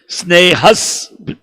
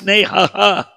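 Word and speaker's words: स्नेहस्: Snehas. Because swa is S. So you don't pronounce snehaha. You pronounce it snehas.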